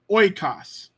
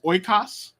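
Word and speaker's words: οἶκος: an Omicron eoda together Omicron eoda is an oi an oi sound uh it's not like oi from you know like our English oil oil a Greek word that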